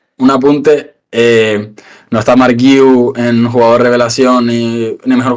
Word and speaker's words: Guiu: pueden confirmar más aún, a ver cómo se pronuncia exactamente, con sus, como Guille, pero con la U al final, así ya me queda más claro entonces.